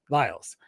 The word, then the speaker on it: Lyles: It's just the branding was easier to just do with my last name, Lyles, because it rhymes with files.